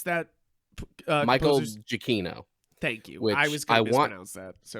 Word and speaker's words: Giacchino: How do you pronounce that Michael composer's? Giacchino, Thank you.